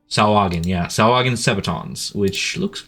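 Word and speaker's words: Sahuagin: How do you pronounce that? Sawagin? Sawagin, yeah.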